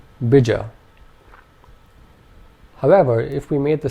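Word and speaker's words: bīja: would now be pronounced bija. Bija. If we made both the vowel sounds long, this would be said as bija. Bija. And finally, if only the first vowel sound was long, this would be pronounced bija. Bija.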